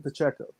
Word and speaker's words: Pacheco: You just pronounce that C and we all right. It's Pacheco.